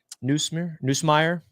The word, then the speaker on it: Nussmeier: Greg Newsomere, is that how you say his name from LSU? Nussmeier.